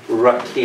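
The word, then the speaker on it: רקיע: Rakia, everybody say Rakia.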